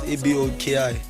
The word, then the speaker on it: Aboki: Aboki, right? Yeah, you got it right. Okay, so it's pronounced as it's spelled Aboki.